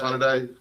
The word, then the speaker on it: Hunniday: Is it pronounced Hunniday? Yes.